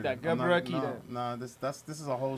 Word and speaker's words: Gebrekidan: And it's Gebrekidan. Gebrekidan. Gebrekidan. You got it. It's pretty straightforward. If you read it, just like that. Gebrekidan.